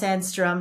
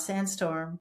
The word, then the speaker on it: Sandstrom: G, and it's Sandstrom, not Sandstorm.